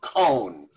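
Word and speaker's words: Kohn: is not herb khan this is herb cohn who owned uh komar furniture oh uh yeah cone k-o-h-n did i mispronounce it no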